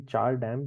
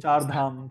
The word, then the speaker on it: Char Dham: to one of the Char Dam pilgrimages. Char Dam or Char Dam? What is it? Char Dham. Char Dham, okay. I said Char Dam. That's how I would have pronounced it.